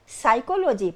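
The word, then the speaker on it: psychology: पी एस वाई सी एच ओ एल ओ जी वाई। लेकिन इसे पढ़ते हैं साइकोलॉजी पर लिखते हैं प साइकोलॉजी। पी साइलेंट होता है।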